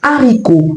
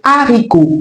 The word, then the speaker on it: haricot: Commençons avec le premier mot haricot. Puisque la consonne H en initial de ce mot est aspirée, nous ne devons pas élarticle le Il faut donc dire le haricot.